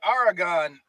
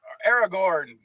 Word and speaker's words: Aragorn: all right the borrow blades were given to frodo mary pippin and sam by aragon aragorn gotta even i can't pronounce it in the peter jackson films but